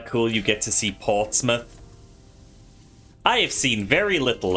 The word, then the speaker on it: Portsmouth: So, I bought Digimon cards in Portsmouth. Hung around for a while. They had a tea and coffee. Is that how you say it? That does not sound remotely like mouth. Yeah, it's just Portsmouth.